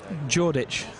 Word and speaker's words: Jordic: Yeah, Jordic. I'm reliably informed it's pronounced with a D, silent D.